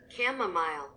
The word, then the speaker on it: chamomile: Chamomile. Chamomile. I didn't know that that's actually how you pronounce it.